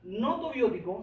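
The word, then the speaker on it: gnotobiótico: Cuando hablamos de un animal no tobiótico, se escribe con una G al comienzo, no se pronuncia la G, pero se escribe, ¿vale?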